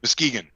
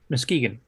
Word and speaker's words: Muskegon: So this is in Muskegon, is that how it's pronounced? Muskegon. Muskegon.